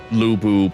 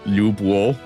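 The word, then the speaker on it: Lü Bu: words correctly I that it's hard to do luu properly uh based on the tones because um essentially the U for L is like you're doing the U at the front of your mouth but you're doing an e sound at the back of your mouth or like in your throat almost so it's like you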